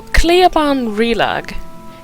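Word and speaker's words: Cliaban Rilag: So, Cleoban Relag is the place where Adair's brother died.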